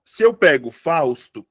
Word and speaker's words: Fausto: Ó, se eu pego Fausto, o que eu tenho? 1, 2. A sílaba tônica tá onde? Tá aqui. Beleza? Fausto. Tá?